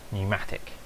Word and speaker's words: Pneumatic: Now that's not technically how it's spelt, but that is how it's pronounced, Pneumatic. Yes, it starts with a P and it's really confusing, it's probably quite hard